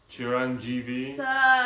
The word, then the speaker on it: Chiranjeevi: you have to say it right Mega star Chiron GV sir okay get that thing right and Netflix